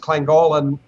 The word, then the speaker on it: Llangollen: Denise adventure, we're going back to it's actually pronounced Llangollen, North Wales.